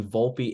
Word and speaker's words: Volpe: Anthony Volpe, is that how you say it? I've heard people say Yes. Volpe. I thought it was Volpe. It's Volpe, right? Yes, it is.